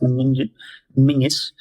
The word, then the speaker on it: Menzies: That's how you spell his name, but it's pronounced Mingus.